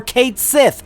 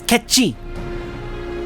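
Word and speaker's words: Cait Sith: And most decidedly, not furball or Kate Sith. Stop saying Kate Sith. Why do people please put any effort in to pronouncing it correctly? It's ketchy.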